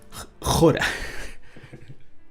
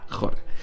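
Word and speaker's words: ὥρα: versículo 42, ¿tú sabes cómo se dice en griego, Carlito? Jora. Hora. Se dice igual. Jora.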